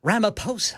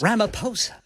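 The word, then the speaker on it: Ramaphosa: Ramaposa. Ramaposa. Ramaposa. Ramaposa. So there's an H in there. Yes, sir. It's R A M A P H O S A. So you thought the PH was an F?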